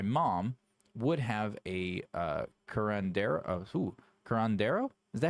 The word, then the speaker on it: curandero: Curandero?